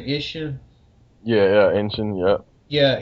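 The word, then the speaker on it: Isshin: Ishin.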